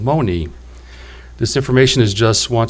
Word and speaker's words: Monee: The French called Marie, but the Ottawa had no sound for the letter R in their dialect, so the Ottawa called her Monee, hence our modern-day pronunciation of Monee.